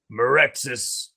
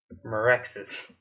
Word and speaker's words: Meraxis: Merexis. Meraxis. See, I want to pronounce that like a hard A, not a soft A.